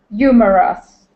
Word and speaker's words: humorous: Humorous. Okay. Pronounce that H instead of humorous. It is humorous.